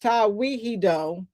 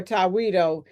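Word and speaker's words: Tewahedo: The Ethiopian Orthodox Tawiho is is pronounced Tawihido or Tawido Church possesses one of the oldest continuous Christian traditions in the world.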